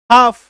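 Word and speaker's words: half: अब ये क्या हो गया, हाफ, क्लियर हो गया, समझ में आया, ठीक है।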